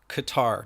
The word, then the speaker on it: Qatar: it now it's in qatar qatar not guitar qatar in the middle east correct yep or some